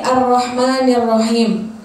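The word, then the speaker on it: الرَّحْمَٰنِ الرَّحِيمِ: Di ro-nya itu terdapat apa? Tasydid. Tasydid itu berarti Ar-Rahmanir-Rahim. Itu cara bacanya keseringan kalau kita dengar banyak orang yang salah tuh bacanya gini. Bismillahirrahmanirrahim. Bismillahirrahmanirrahim. Itu salah ya ibu-ibu, karena di ro-nya ada tasydid.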